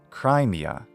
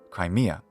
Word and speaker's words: Crimea: kind of change now I don't recommend accenting the first syllable as some do so not Crimea but Crimea also there's no need